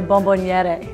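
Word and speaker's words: bomboniera: The bonbonniera.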